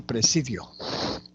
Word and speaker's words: presidio: De igual manera podríamos decir con la palabra presidio.